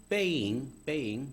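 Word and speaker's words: 背影: 제가 읽었던 글 중에 굉장히 지금도 좋아하고 기억에 남는 글이 중국의 작가 주자청이 쓴 아버지의 뒷모습, 중국 발음으로는 빼잉, 뒷모습이라는 수필이에요.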